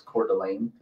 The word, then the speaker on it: Coeur d'Alene: name of the arm so it's coeur d'alene oh coeur d'alene yes we call it